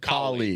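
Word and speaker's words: Kaohly: Saint Paul Mayor Cool It's Cooley, right? Is that how you say it? Colly. Colly. Colly. Like cauliflower without the flower.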